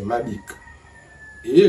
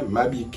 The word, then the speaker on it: Mabike: Donc on voit bien que le même nom, Mabik, il y a E muet. À la base, il y a Mabike, E accent aigu, ça devient Mabiko.